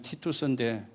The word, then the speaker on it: 티투스: 그것만 지금 남아가 있습니다 그 기도라는 사람이 로마 발음을 의하면 티투스인데 그리고 한 2년 뒤에